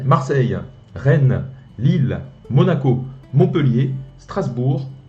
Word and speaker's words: Marseille: 한국에선 마르세유라고 하는데 프랑스에서는 On peut dire Olympique de Marseille. 막세이라고 네, 한다는 거. 막세이.